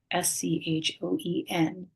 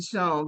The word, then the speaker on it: Schoen: And I'm going to spell that because my last name it doesn't look like it sounds. So it's at, Schoen, coaching. Thank you, and I apologize for saying Sean because that's No, exactly what I said.